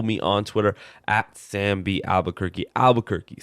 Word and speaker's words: Albuquerque: Albuquerque, spelled like the city in New Mexico, ALBUQUERQUE.